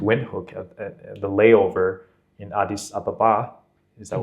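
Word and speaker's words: Addis Ababa: flight here to Wi hook the layover in Adis Ababa is that how you say it yes that's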